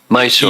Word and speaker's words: Mysore: Mysore.